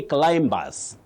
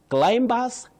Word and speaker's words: climbers: Many people may doubt this when you tell them don't say climbers. Climbers. No, not in standard English. You say climbers. Climbers. Not climbers. The B after M is not pronounced. It is silent.